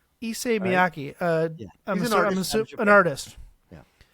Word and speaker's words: Issei Miyake: Issei Miyake. Issei Miyake.